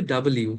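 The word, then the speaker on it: W: ইউ ইউ ও ইউ ইউ আর ডবলিউ কে বলবে ডাবল ইউ হ্যাঁ আপু আসলে না এটার উচ্চারণ কিন্তু ডাবল ইউ এটা একটা দুইটা ইউ মানে একসাথে ভাই একটা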